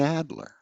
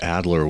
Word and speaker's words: Adler: And well, it always struck me that Adler was a kind of Dickensian name. That here is Irene Adler, or Irene Adler, if you want to go with the European pronunciation, has done the unthinkable.